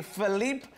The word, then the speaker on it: Filipe: with now aka Philippe vehicle Sal what is it I see how do you say your name we focused I am definitely almost like there's no e in the middle yeah little leap kind